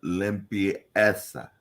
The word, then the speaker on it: limpieza: Yo voy a odontólogo para recibir una limpieza. Lim, that's not limb. Not out on a limb. Limpieza. Limpieza.